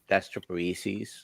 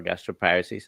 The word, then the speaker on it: gastroparesis: several times I got got gastroparesis or gastroparesis I pronounce it both ways uh and lately I've